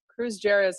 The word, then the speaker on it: Kruse-Jarres: It's my pleasure to introduce Dr. Kruse-Jarres, is how most people pronounce it, although that's not the proper German pronunciation, who's an associate professor of medicine at UW in the Hematology and Oncology division.